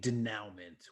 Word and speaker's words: denouement: with called Devil Deed Denouement, which is poetry, a poetic song lyrics with a refrain with art by Ashley Wood. You might want to let's get the pronunciation on. That's a French word.